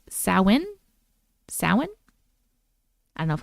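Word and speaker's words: Samhain: Fast forward to when I'm 45 years old and I attend an intimate gathering for Sam Hayne. Oh, no. It says pronounced sin.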